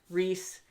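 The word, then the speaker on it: Reiss: family but all around i think rice is the appropriate way because i've heard it pronounced reese and race and rice on this show um with the subtitle version so um we're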